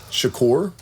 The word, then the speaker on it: Shakur: Shakur, it's the Tupac pronunciation.